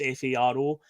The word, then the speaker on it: Faro: We're going down to a city called Faro, or Faro, it's pronounced Faro.